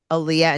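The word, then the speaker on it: Alliya: hour to hour all right moving on to Aaliyah and sha interesting uhuh Aaliyah is that how you say her name it's Ayah yeah okay so you picked your name yeah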